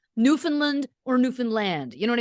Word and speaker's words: Newfoundland: there have told me you hit land it's not Newfoundland oh yeah it's Newfound